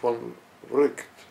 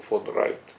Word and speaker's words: von Wright: Sin embargo, en el año 1951, el gran filósofo y lógico finlandés Georg Henrik von Wright, o von Wright, ambas pronunciaciones son admisibles, publicó un breve artículo